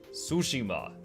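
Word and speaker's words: Tsushima: job on it uh those are all fantastic sushima is how you pronounce it okay Titan Quest Titan Titan Quest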